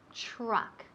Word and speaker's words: truck: Nada, ese sonido. La TR. En inglés, okay. Fijaos muy bien. Truck. Casi suena como CHR.